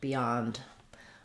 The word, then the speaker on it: beyond: it's not stressed um the stress is still on the second syllable yond um so that looks like beond with our ND sound Beyond uh Beyond the Horizon